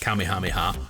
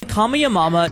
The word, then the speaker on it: Kamehameha: show and we also found out it isn't pronounced kamehameha it isn't pronounced kamehameha it's officially called call me a mama call me a momma a monumental change was